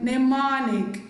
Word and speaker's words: mnemonic: Letter M is silent in the word mnemonic.